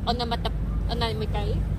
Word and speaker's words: onomatopoeia: That onomatopoeia. Onomatopoeia. Correct. Correct. Correct. Correct. First, your pronunciation.